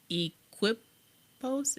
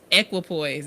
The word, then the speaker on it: Equipoise: Is it Equipos? Am I saying that wrong? I feel like I'm saying it wrong. Equipoise. There we go.